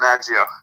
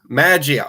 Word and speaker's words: Maggio: Is it Maggio or Maggio, actually? It's Maggio. Maggio.